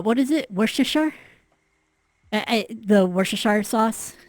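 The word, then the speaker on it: Worcester: is it worash the worash sauce Worchester Worchester it's it doesn't you don't pronounce it exactly how it's written essentially CU it's in Welsh tactical Warhammer yes yeah yep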